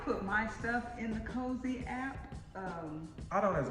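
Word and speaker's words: Cozi: in a calendar app c-o-z-i cozy i think that's how you pronounce it that's how i've been pronouncing it i put my stuff in the cozy app um i don't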